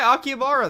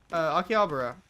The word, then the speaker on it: Akihabara: Dude, you're by Akihabara then. Akihabara. I always say that wrong. The right emphasis on syllables is difficult.